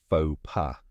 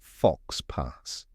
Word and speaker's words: faux pas: here's a quick tip even though it ends in X and S you don't pronounce them it's just FAA not fox pass now that you know